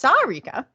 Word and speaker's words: Sarika: excited to bring you Sarika uh well it's pronounced Sarika Jane and she is a love and dating